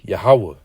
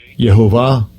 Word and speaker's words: Yahweh: You get Yahweh. That's how you say it. That's the real pronunciation, how you say it. Because, if you just look it up and go based off how what the small hats pronounce their, this how they're going to pronounce Strong's H 3068. Yehovah. Yehovah. Which that makes completely no sense.